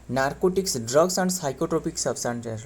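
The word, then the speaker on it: psychotropic: जो narcotics drugs and साइोट्रोपिक substances है। Narco जो नारकोट्रपिक ड्रग नारकोटिक ड्रग एंड साइोट्रोपिक है ना साइोट्रोपिक मतलब पी एस टू व है ना पी तो साइलेंट लेटर है पता ही होगा साइोट्रोपिक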